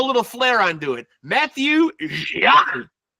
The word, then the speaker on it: Jacques: MATIEU Jacques. Jacques, yeah, that's right. Like Frère Jacques. Yeah, like Frère Jacques. Yeah. You know, a lot of silent letters in my name, but you got it right.